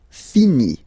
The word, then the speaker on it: finit: Il, elle, finit. So IT, final T not pronounced.